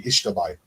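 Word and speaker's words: Xtabay: on the uban Peninsula it's called the ishai x a t can't spell it but it's x a t b a y check that one out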